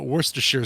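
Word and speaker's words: Worcestershire: here sauce but of course it is uh Worster sheer sauce oh it's a good one oh that's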